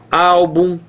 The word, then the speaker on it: álbum: tem final M ó álbum olha só álbum paroxítona final o m tá certo